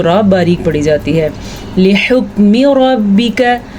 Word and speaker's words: لحکم: جاتی ہے۔ لحکم ربک، ہا کے تلفظ کا خاص دھیان رکھنا ہے۔ بعض لوگ اس کو پڑھتے ہیں لی حکمی، لام کو لمبا کرنا قطعاً جائز نہیں کیونکہ لامز لی اس کی اتنی ہی مقدار ہوتی ہے۔ لحکمی، اسی طرح